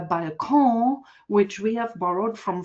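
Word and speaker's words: Balkon: The same is true for by um which we which is how we Germans pronounce uh uh by which we have borrowed from French but before us the French have borrowed it from Italian.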